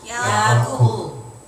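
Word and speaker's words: יעקב: 히브리어 발음대로 하면 야코브입니다. 해보세요. 야코브.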